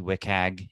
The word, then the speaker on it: WCAG: But just as a couple definitions, if you aren't familiar with them, WCAG, WCAG is how that's pronounced, is the web content accessibility guidelines.